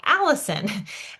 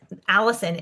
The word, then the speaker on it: allicin: And I don't know if there's a correlation with the name Allison. It's obviously spelled a little bit different, but I was like, wow, it's literally pronounced the same way. So this allicin is garlic's protective compound.